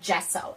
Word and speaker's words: gesso: is going to be applying what is called gesso it's spelled g-e-s-s-o this is what artists use to